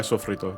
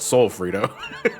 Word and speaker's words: sofrito: That's Oh yeah, basically sofrito what it too. is. I also swear by sofrito. There's no L in sofrito. It's not sol frito. it's Sofrito chip.